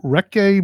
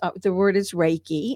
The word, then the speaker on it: Reiki: this, but tell me about your occupation, your recce manager, master, and what is that? I had never sort of heard about Oh, that. you haven't. No. And the word is Reiki, and it's spelled REIKI, and it's a spiritual